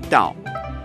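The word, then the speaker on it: 到: backwards or upside down da is pronounced the same way as the character for arrive da so if you have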